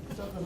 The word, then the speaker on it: Yissachar: Yissachar's over. That's the way we're pronouncing it forever.